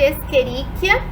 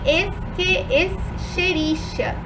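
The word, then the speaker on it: Escherichia: essa bactéria a gente ela pode ser chamada tanto de experiência como de esqui extericia tá então a pronúncia pode ser experiência ou experiência tá tanto uma conta outra estão corretas E aí clica é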